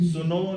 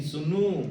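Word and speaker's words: sūnu: Suno nahi Sunu. Sunu o Sunu. Yes, Sunu.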